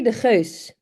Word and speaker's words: de Geus: because it is de Geus. And the hard G is like a sound, I guess, that in the Netherlands is really common.